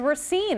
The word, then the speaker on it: Racine: Well, it is Racine.